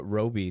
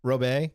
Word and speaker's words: Robey: guest with me Roby did I pronounce that correctly you did thank you that could be real bad whatever you want Ro Bay okay we can we